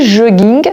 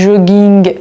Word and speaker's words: jogging: Donc il faut juste retenir cette petite règle parce que si un mot se termine par la lettre G et que ce mot-là vient de l'anglais, je suis obligée de prononcer G finale.